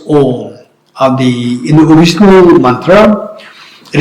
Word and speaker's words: Om: the meaning is that Om, this syllable is made of 3 letters. A, U, Ma. This syllable is made of 3 letters. A, U, Ma. And combined together, it becomes Om.